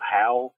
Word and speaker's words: Haal: guitar and sings in, called Howl. It's spelled Haal.